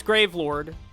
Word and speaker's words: Gravelord: to the next game grave Lord or as I pronounced it originally gravel or I love gravel or